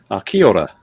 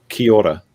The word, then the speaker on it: Kia ora: Kia ora.